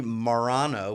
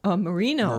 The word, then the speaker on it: Marino: And it's basically Marano, which is a town south of Rome, and they have every year a grape festival. How do you spell it? Marino.